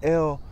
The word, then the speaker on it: El: And the word El rhymes with the word hell for a reason.